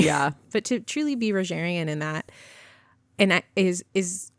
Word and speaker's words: Rogerian: I always want to say a hard G. Yeah. But to truly be Rogerian in that, and that is one, I think, actually very hard.